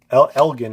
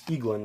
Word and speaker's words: Eglin: I feel like I've been saying it wrong, like Elgin, it's Eglin because it's an eagle.